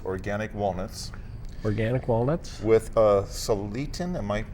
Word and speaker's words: Salatin: With Salatin, am I pronouncing that right? Salatin This style? is Joel Salatin.